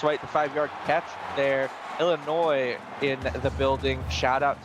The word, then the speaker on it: Illinois: the 5y catch there Illinois in the building shout out to them yeah you got to remember that s is silent I know Frosty always